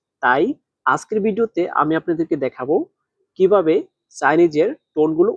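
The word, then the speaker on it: 打: প্রথম শব্দটা হচ্ছে দেখাই, তাহলে দা, দেখেন দা বলার সময় নিচের দিকে, দা দা, এটা বলার সময় নিচের দিকে টান দিতে হবে, দা।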